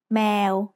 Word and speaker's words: แมว: give us the word แมว If you think แมว sounds like the noise a cat makes, that's because แมว means cat in Thai. Let's write cat. สระแอ มอม้า วอแหวน แมว Now it's time for Pratana's points.